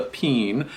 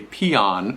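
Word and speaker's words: Péan: east of the Mississippi we usually pronounce this pen P aan that's how it spell it's sort of like a bean like a can of beans okay this is a peen now on the West Coast or West of the miss Mississippi they'll often pronounce this a peon so you might hear that as well but this is a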